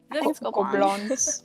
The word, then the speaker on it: Gobelins: How do you pronounce that school? Gobelins.